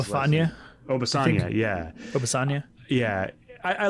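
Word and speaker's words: Obisanya: How do you pronounce Obafanya? Obafanya, yeah.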